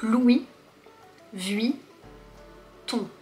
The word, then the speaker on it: Louis Vuitton: On ne prononce pas le S, c'est Louis. Si tu prononces le S, Louise, c'est un prénom féminin. Donc Louis Vuitton.